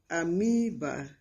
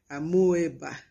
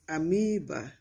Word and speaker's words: amoeba: and we also have amoeba amiiba i know that this word is still pronounced amoeba in schools but that is incorrect it's amoeba amoeba we have fitters fitters